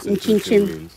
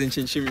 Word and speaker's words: Nkyinkyim: How do you say that? Nkyinkyim. What does Nkyinkyim mean? Nkyinkyim. Yeah, that's how you say it.